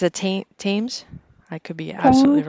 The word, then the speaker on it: Thames: How do you proper way to pronounce that, I think Amanda? it's a Thames.